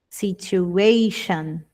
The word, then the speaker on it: situation: Toda terminação com t I o N é como se eu dissesse sh situation.